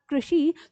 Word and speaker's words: कृषि: तो इसका मतलब ये हमारा जो री है, ये ही इसकी मात्रा है, और क्योंकि इसका उच्चारण है री, तो यहाँ पर ये शब्द है हमारा कृषि।